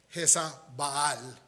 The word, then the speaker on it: Jezabel: Leemos que se casó con Jezabel, que realmente debe ser pronunciado Jes Baal.